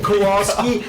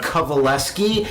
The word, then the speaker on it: Kowalski: for everyone else's benefit it's actually kovaleski and that's spelled the opposite of How It's said or even looked at or heard kovaleski yeah so I want